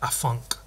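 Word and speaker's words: afanc: I and but that that thing is spelled a f a an C basically the same um did I say it's Welsh it's Welsh like a funk um so I I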